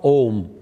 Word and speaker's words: Om: This is another way of pronouncing. So again I do the pronunciation of Om.